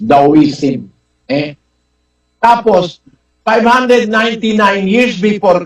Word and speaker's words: Taoism: yung taoism kung pronounce yan sa Chinese daism eh tapos 599 years